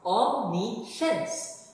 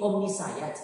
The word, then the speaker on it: omniscience: This week, our word is spelled O-M-N-I-S-C-I-E-N-C-E. Can you read it? It is pronounced omniscience. It has three syllables, hindi omnisayat, but omniscience.